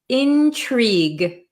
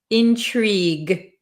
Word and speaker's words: intrigue: but we pronounce it intrigue intrigue we don't pronounce this U or E really Intrigue okay Intrigue so